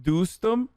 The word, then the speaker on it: Dostum: Dostum pronounced Dostum.